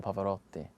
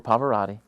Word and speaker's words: Pavarotti: lot of people's is Luciano Pavarotti and you gotta say it like that it has to be said that way um or Pavarotti um and he was